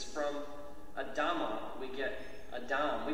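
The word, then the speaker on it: אדם: And so, essentially, it's from Adama we get Adam. We pronounce the name Adam.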